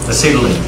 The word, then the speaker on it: acetylene: Acetylene.